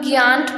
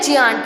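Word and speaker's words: giant: आप ये क्या लिखा है, जियांट, कुछ लोग ज्ञांट पढ़ते हैं इसको, तो नहीं, ये क्या होता है, जियांट।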